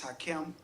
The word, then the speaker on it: Hakim: yes sir thank you my first name is hakim h-a-k-i-m last name is okay